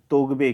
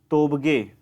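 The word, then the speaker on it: Tobgay: पुस्तक आने वाली है शेरिंग तोगवे की। तोबगे, शेरिंग तोबगे उच्चारण होगा इसका।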